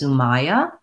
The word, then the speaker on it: Sumaya: So based on how your name is spelled, I would guess that it's Sumaya. The A-I-Y is not a convention that we have in spelling in American English.